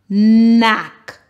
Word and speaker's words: knack: N, ack, knack. Now please remember, in this word, the K is silent.